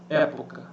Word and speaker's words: época: Época. Época. 3 impulsos de ar. Época. Sílaba tônica é a que se prolonga, então proparoxítona. Resposta está aqui, letra B, proparoxítona.